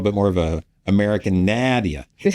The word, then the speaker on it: Nadia: Nadia. So we could do a little bit more of a American Nadia, and to be closer to the Arabic pronunciation.